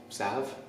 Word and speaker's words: salve: it to make a hand salve sav self the ellis silent salve a hand salve that